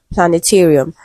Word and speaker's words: planetarium: And the word is planetarium. Okay. Planetarium is stressed on the syllable before real. Okay. That's the third syllable.